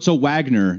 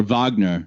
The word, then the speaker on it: Wagner: pronounce sorry but wagner so wagner you'd say in english yeah oh okay richard richard uh wagner or wagner they say oh okay cool